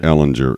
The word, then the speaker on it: Ehlinger: Ehlinger is playing crazy you know Ehlinger it's Eleanor Salinger we do not pronounce the G here Caleb you know that